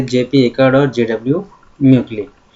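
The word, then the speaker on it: Mauchly: JP accord और जेडब्ल्यू म्यूकली। कुछ लोग मॉकली या म्यूकली या म्यूसली भी कहते हैं, तो ये इंग्लिश प्रोनाउंसिएशन है, वो अपने जो भी हैं अपने सुविधा अनुसार आप उसको पढ़ सकते हैं।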